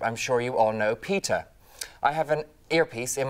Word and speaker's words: PETA: It's pronounced PETA as opposed to PETA, which is one of the most common questions I get.